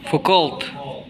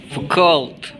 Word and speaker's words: Foucault: Apa sih bacanya? Foucault. Foucault.